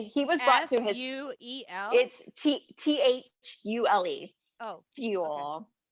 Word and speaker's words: Thule: was brought to him t-h-u-l-e oh fuel i know it sounds weird yeah and if that might not even be how you say it could be thule or you're being protected by